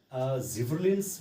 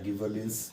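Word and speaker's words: gibberellins: Second इसमें जिबरलिन्स भी एक हार्मोन है, जिबरलिन्स या गिबरलिन्स जो भी बोलते हैं इसको अपनी अपनी प्रोनाउंसिएशन के हिसाब से।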